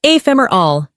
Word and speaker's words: ephemeral: The word is ephemeral, pronounced ephemeral.